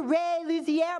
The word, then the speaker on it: Luzier: excited to be here i am talking to ray Luzier might pronounce that right that's right you love